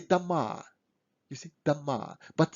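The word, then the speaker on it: дома: If O in a word is not under stress, we pronounce it as a kind of R. So we don't say Doma. We say Dama.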